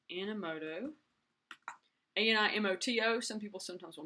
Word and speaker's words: Animoto: I'm going to do a new post, and this one is going to be called Animoto, and it's Animoto, A-N-I-M-O-T-O. Some people sometimes will misspell it, and it's not Animoto.